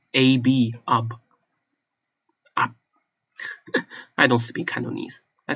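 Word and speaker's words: 鴨: You shut your lips like you are going to pronounce B, but you don't, which is fascinating.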